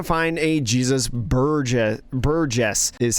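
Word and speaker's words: Burgess: one is going to find a Jesus bur Buress is how you pronounce that one going to put that in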